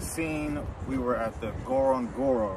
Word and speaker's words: Ngorongoro: as you guys seen we were at the Goron Goro right that's how you say it just ignore